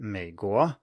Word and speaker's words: 美国: Just to bring up one example, if we have the word 美国, which consists of a low tone followed by a rising